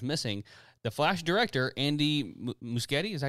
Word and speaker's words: Muschietti: The Flash director, Andy Muschietti, is that how you say his name? Muschietti.